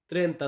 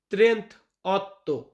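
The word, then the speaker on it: trentotto: 30 সেতে মানে স ত্রেতা আছেতে 37 38 এটাকে আমরা ইতালিতে বলি ত্রে অত ত্রে অত এটা ত্রেতা বলবেন না ত্রেন্তত মানে 38 39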